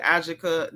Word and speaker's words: Ajike: Her name looks like Ajike, but they literally pronounced it Ajike. Don't ask me why.